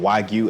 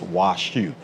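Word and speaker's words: 和牛: So it's actually, they call it Wagyu everywhere, but it's actually pronounced in Japan as washu.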